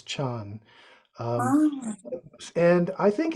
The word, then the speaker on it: Zen: B basically uh the the term Zen in Japanese is as I understand it just the the Japanese way of pronouncing the same characters as as as Chan um and I think